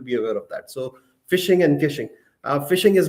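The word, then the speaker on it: phishing: Uh the landscape consists of fishing. Fishing the the pronunciation is same as fishing.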